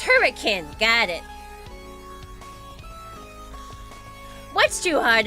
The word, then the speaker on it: Hurricane: It's pronounced hurricane.